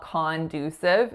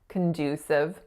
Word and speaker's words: conducive: It has 3 syllables. The first syllable is con. So this one, when a lot of my clients see C-O-N, they're going right for con, but it's definitely not conducive. It's schwa, conducive. That second syllable is our winner, and the vowel sound that it makes is that moving oo, oo sound. So make sure it's not a pure oo. It's not conducive. It's condu.